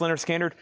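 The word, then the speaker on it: Lynyrd Skynyrd: We have Leonard Skinner, pronounced Leonard Skinner.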